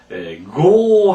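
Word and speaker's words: 業: 여기서 업자를 고 하고 읽는 것을 아주 조심해야 되고요. 이제 업자는 또 업자는 원래 요라고 읽습니다. 사업, 징요, 그죠? 사업 같은 건 징요라고 있잖아요. 징요, 업자는 니고리가 있는 교로 읽습니다.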